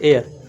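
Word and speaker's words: heir: Okay इसमें एच होता है जो यहां पे साइलेंट साइलेंट होता है।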